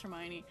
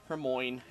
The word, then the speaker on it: Hermione: Alright, relax, Hermione. Hermoine. I've heard people call her Hermoine. Don't do that.